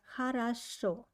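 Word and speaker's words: хорошо: answer will be like hara show good so here we have a three o but only the last one i pronounce like o and first to o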